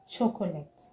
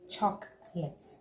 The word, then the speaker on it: chocolate: Here people say chocolate. Okay? But it is chocolate and not chocolate.